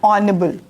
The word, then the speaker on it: honorable: having a vowel sound h is consonant alphabet but the sound is coming from this word vowel here you can see an honorable honorable honorable we are